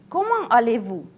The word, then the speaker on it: Comment allez-vous: Let's pronounce it like one phrase. Comment allez-vous?